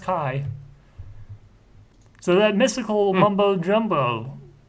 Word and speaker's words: Ki: Yeah, okay, it's actually pronounced Kai.